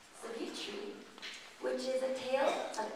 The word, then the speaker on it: Savitri: And they are going to be doing, it's pronounced Savitri, which is a tale of ancient India, adapted by Aaron Shepherd.